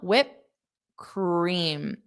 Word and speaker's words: whipped: So same with whip, I don't pronounce that p, whip. I just say whip. And then when I open my mouth, whip cream. And then I just pronounce the word cream.